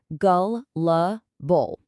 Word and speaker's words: gullible: The word is gullible. It's pronounced gull-la-bull.